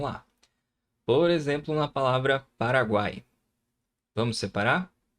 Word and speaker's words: Paraguai: Por exemplo, na palavra Paraguai. Vamos separar? Pa, ra, guai. Paraguai. Olha só. Guai. Você consegue notar o som do U, o som do A e o som do I também.